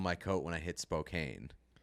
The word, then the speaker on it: Spokane: coat when I hit Spokane. So like cocaine in Spokane.